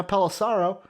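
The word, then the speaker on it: Pelissero: it right dave now palosaro sarah paul cerro rhymes with arrow there you go there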